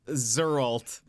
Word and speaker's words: Geralt: don't know is the the creator of Gerald pronounces It Gerald so it's actually pronounced zalt now if we ever